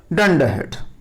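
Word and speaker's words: dunderhead: तो उसके लिए एक वर्ड आया है डंडरहेड. Here are is silent. डंडरहेड.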